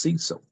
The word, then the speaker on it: Seso: And it told me to spell it Seso and pronounce it Cecil. As opposed to people, when they see it, they want to say so. It's actually pronounced Cecil.